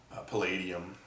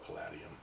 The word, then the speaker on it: palladium: Uh your other metal like silver and ruinium uh roodium and palladium uh or paladium, however you want to pronounce it.